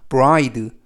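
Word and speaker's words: bride: d 는 뜩 그리고 맨 끝에 있는 이는 발음 하지 않습니다 그래서 와이드 r 발음에 유의 하셔서 브라이드 하라고 발음 하고요 의미는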